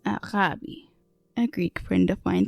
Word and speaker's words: agape: ancient Greeks called Arabi most people pronounce it Agape as it is written in English but it's actually pronounced aabi a Greek friend of